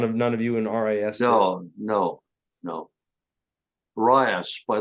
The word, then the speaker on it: RIAS: I know none of none of you in Ras no no no rice by the way is the pronunciation rice okay rice yes I'll start calling it the right thing